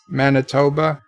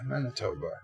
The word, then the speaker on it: Manitoba: wannabes will not miss it lmao that I pronounced that right Manitoba yeah Manitoba Joseph's is Lowell so one way ticketed is